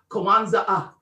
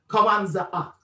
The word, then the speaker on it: Kwanzaa: When he added that third A, the pronunciation correctly for Kwanzaa really is Kwanzaa, Kwanzaa.